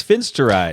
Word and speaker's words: finasteride: Okay, the next one is finasteride. Or finasteride. Oh, shoot. That's what it is. Finasteride. Like it's spelled.